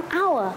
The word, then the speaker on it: hour: Hình thức viết bắt đầu ký tự H. Nhưng khi phát âm chúng ta, phát âm nguyên âm hour. Bởi vì đây là silent H, hát câm.